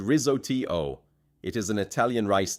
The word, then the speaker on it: risotto: Risotto is said ri-zo-tee-oh.